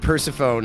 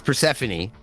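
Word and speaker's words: Persephone: Last time you said Persafhone and I wasn't paying attention. It's Praphanany.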